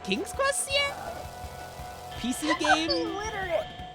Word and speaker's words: Sierra: Like Syria Games. Syria? Like the country? Yeah, like SIERA. Sierra? Sierra? Is that how you pronounce it? Yes! Yes, Sierra Games.